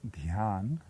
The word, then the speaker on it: Dhyan: The Sanskrit pronunciation is Dhyan, and the Bengali pronunciation is Dhyan.